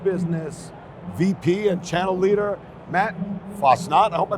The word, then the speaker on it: Matt Fassnacht: Hi, I am Bob DiMarzo here with CPTV, my special guest, Comcast Business VP and Channel Leader, Matt Fassnacht. I hope I pronounced your name right.